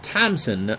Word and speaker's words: Thompson: Or Thompson, no, don't pronounce the P.